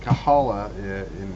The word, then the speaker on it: Kabbalah: yeah, but they pronounced it Kahala in Ford's time, Oh, and so I said they're really well organized.